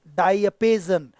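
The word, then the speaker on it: diapason: और last but not least, सबसे आखिर में देखो, द डाई अपेजन का प्रोनाउंसिएशन ध्यान सुनना, डायपेजन, इट्स डायपेजन।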